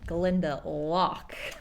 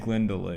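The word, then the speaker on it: Glendalough: our drive a place called Glenda lock Glend de lock not Glend Deo unfortunately there was no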